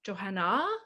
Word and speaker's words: Johannah: uh instagram johanna the only tricky thing about my name is it has a sneaky little silent h on the end of it so johanna uh so